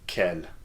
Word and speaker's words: quel: all French adjectives there are four forms of Kell and here they are check them out because